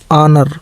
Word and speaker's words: honour: HONOUR ऑनर, ऑनर का मतलब सम्मान, ठीक है।